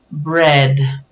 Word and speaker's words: bread: es difícil para nosotros aquí tenemos una letra b que no se pronuncia como nuestra B con la lengua entre